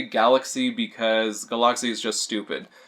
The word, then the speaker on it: Galak-Z: I've heard it pronounced Galak-Z and Galaxy, but I say Galaxy because Galak-Z is just stupid.